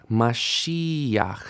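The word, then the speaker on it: מָשִׁיחַ: Mashiach. Stress here, not at the end with this final patach here.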